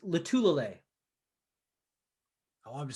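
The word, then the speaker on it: Lotulelei: I still think I think you still pronounce Star Lutulele's name wrong. How do you do it? Me? Yeah. Star Lutulele. Yeah, it's Lutulele.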